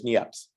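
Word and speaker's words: Niépce: nips and i remember someone telling me that there's only like three people in the united states you can pronounce that name correctly so i pronounce it as nieps then there was louis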